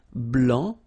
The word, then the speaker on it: blanc: here okay so here masculine BL don't pronounce the final C and then blanch okay